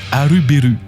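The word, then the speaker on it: アルベル: En prononciation japonaise, ça se dit Arubéu, tout comme Ener qui se prononce Eneru.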